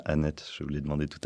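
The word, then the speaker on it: Anet: Alors, Olivier Marleix, vous êtes député, vous avez été maire d'une petite ville, Annette, ça se prononce bien Annette, je vous l'ai demandé tout à l'heure, la ville de Diane de Poitiers.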